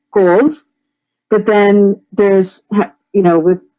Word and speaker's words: couve: I will tell you, I grew up saying courge, right? And then I was told, no, it's not courge, it's couve. But then there's, with how you were saying it, couve.